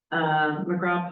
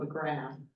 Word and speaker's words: McGraw: McGraw Pond, see, I said that right. I want to call it McGrath.